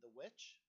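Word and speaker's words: The VVitch: Have you seen The Witch? The Witch. Why does that sound familiar? It's spelled like VV itch.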